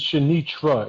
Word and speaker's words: Shanitra: Because Rich he pronounces Shanitra. Is that accurate? Yeah, that's correct.